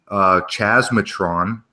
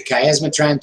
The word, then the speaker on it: Chiasmatron: It's a hard K sound. Go ahead and pronounce it for us. It's the Chiasmatron 2000. It's for chiasmus and parallelism.